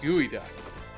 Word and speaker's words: geoduck: It's pronounced gooey duck.